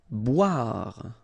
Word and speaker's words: boire: Boire. Okay, remember O-I, wa, wa, wa, wa, bois, boire.